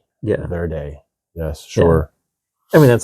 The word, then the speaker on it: Verde: Yeah, Verde. Yes, sure. I mean, that's how it's spelled.